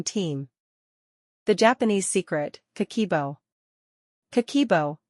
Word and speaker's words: Kakeibo: Kakeibo, pronounced Kakeibo, is a Japanese budgeting journal that's been helping families manage money for over a century.